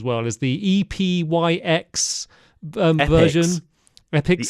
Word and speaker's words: Epyx: Epics, is that the way you pronounce it? Okay. Yeah. Oh God, I'd have probably said E-Pikes, which would have sounded even worse.